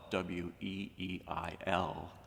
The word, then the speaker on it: Weil: Now, if you're interested in Simone Weil, her last name is spelled w e i l, but pronounced Weil.